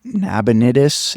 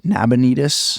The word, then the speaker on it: Nabonidus: There is a king and his name is I want to make sure I pronounce it right. Who knows? Nabon Nab Nabonidus. Nabonitus.